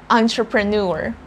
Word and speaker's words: entrepreneur: very confusing is you think the very first syllable we see there e n but we're saying on on untra pro and then instead of saying pre we have to say pro the last syllable is nor entrepreneur consider yourself an